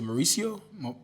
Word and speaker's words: Mauricio: buddy yowser yowser hi so your last name is Mauricio yeah see you roll your R's I got a rolling